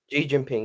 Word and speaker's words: Xi Jinping: Xi Jinping, yes, Xi Jinping.